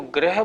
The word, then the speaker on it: ग्रह: उसको ग्रह बोलना है। इसको गृह बोलना है। थोड़ी बात का अगर ध्यान रखेंगे, आपका उच्चारण शुद्ध होगा।